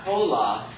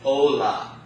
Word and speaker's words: hola: So the first one is that H is silent. Okay, the letter H in Spanish is not pronounced. It's silent. So look at the first word on your vocabulary list. That word is pronounced not hola, okay? It's hola. Because the H is completely not pronounced.